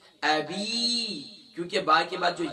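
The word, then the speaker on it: أبي: با کے بعد جو یا ہے، یا مدہ ہے، اسے 1 الف کی مقدار کھینچنا. اکثر پر تبت یدا ابی لہب، ابی نہیں ہے، ابی.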